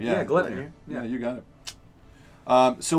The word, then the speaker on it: Gleipnir: That's an interesting Gilfner? Is that Gleipnir? Interesting Ultra. It's Gutnir. How do you say it? Let me get closer to it. Oh, Gleipnir. Yeah, Gleipnir.